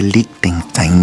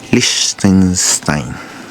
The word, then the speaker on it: Liechtenstein: Miren, aquí está, no se dice Liechtenstein, ni Liechtenstein, ni Liechtenstein, como lo he dicho yo, sino que Liechtenstein.